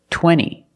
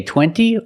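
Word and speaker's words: twenty: Or this word, 20. You can say 20 or you can say 20. Most Americans will say 20.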